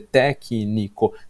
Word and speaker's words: técnico: dizer ritmo, e dizer técnico. Técnico é tão legal que a gente cria uma palavra pré-proparoxítona. A gente coloca o acento na quarta sílaba de trás para frente, para falar técnico, que é uma coisa